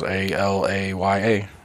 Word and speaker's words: Alaya: It's just like it sounds. Alaya.